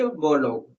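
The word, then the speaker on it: Borlaug: बोलो दोबारा सुनना नॉर्मन अर्नेस्ट मैंने न को साइलेंट रखा है। मैं बोलता इसी प्रकार से हूं। सुनना ध्यान से नॉर्मन अर्नेस्ट बोलोग ये आप लिख सकते हो।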